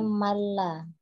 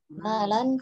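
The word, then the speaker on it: مالا: juga tadi dibacanya pendek, kemudian malan, tidak ada tasydid pada huruf lamnya, terdengar tadi dibacanya malla. Malan fasulito ala halakatihi fil haqqi.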